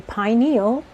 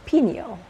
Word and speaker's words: pineal: for it is the depending on how you pronounce it it the pineal or the pineal gland I uh going through